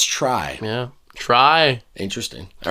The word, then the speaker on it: Tri: Try. Interesting. All right. Cute. Or tree, but it's spelled try. Like try. We'll say try.